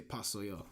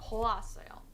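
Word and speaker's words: 파요: Oh, so you don't say like the poa. You just say pasoyo. Pasoyo. Easy. Not poasoyo. Pasoyo.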